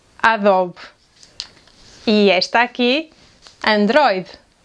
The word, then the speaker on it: Android: And this one: “ANDRÓIDE”, “ANDRÓIDE”.